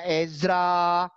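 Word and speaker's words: עזרא: Ezra. Ezra. Itu hurufnya ayin. Dari paling kanan ayin, sebelah kirinya zain, sebelah kirinya resh, sebelah kirinya alef. Bacanya Ezra.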